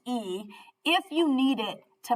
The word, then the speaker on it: y: You might have to add one word, and that's and, which is the letter Y in Spanish, pronounced E, if you need it to make the sentence make sense.